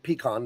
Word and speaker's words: pecan: If you take a pecan pie, that's how I pronounce it. Pecan, not pecan or anything. Pecan.